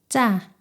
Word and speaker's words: ㅉ: 지읒 두 개를 나란히 붙여서 쌍지읒이 되었습니다. 혀와 입천장 사이에 강한 긴장과 힘을 주고 공기를 막았다가 숨을 전혀 내보내지 않으면서 소리를 터뜨립니다. 목구멍에 힘을 주어 성대가 긴장하는 느낌이 있습니다. 쯔, 쯔 소리가 나요.